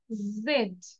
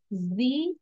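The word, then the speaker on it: Z: here we ক্যান সি two pronounce like জি এন্ড জেড American say জি but British say জেড ব্রিটিশরা জেড বলে এবং আমেরিকানরা জি বলে so both R correct you ক্যান সে অর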